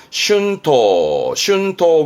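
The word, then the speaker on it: 春闘: 그래서 춘투라고 그래서 발음은 슌토 그러는데 봄 되면 임금투쟁이 벌어져요.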